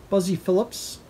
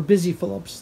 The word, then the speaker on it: Busy Philipps: else is in there buzzy Phillips or Busy Philipps that's how you pronounce her name oh it's really good